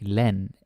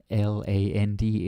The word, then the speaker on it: land: This is Danish, right? Like len l a n d is len, not land or lent or something like that.